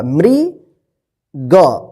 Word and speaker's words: मृग: क्या पढ़ेंगे इसको मृ, यानी जिस अक्षर पे री की मात्रा रहेगा उस अक्षर के साथ जो है ना री का उच्चारण होगा। मृ ग मृग।